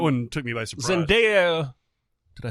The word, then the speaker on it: Zendaya: Zendaya, did I say it right?